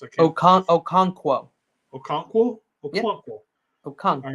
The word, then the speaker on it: Okonkwo: They're tied in Okawanu or whatever, however that's pronounced. Okonkwo.